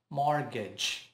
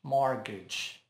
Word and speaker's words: mortgage: Não pronuncia o T. Mortgage. Mortgage. Mortgage.